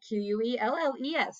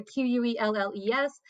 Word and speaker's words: quelles: And again, these all are pronounced the same way.